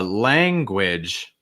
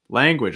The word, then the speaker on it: language: us right language language couple things here lang this is again a case of that a sound plus a nasal it's like ang get that sound of your nose heaviness on your nose lang and then which it almost has like a w cell with a short eyes like with a g sound at the start wit the last thing